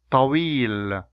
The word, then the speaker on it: طويل: Yeah, now I will pronounce the words with both sounds and you try to Listen carefully. طويل, طويل, طويل, طويل.